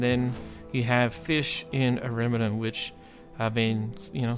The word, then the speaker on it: Ariminum: I try to call it Ariminum, Ariminium, but there's no I after that. I'm trying to call it Ariminum, but you've probably heard me mispronounce it as well.